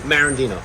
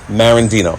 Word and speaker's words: Marandino: How do you pronounce the last name? Marandino. Marandino.